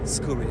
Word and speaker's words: Scuri: Could you spell it for me, please? Your surname? Scuri.